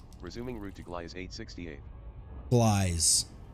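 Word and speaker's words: Gliese: Glies. That's how you say it. At least that's how the computer says it.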